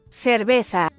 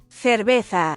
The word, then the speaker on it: cerveza: Zawsze wymawiamy je jak s. Na przykład zapato, zapato, zapato, cerveza, cerveza, cerveza, cinco, cinco, cinco.